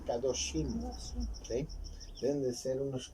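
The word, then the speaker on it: קדושים: En el hebreo se pronuncia kadoshim, ¿sí?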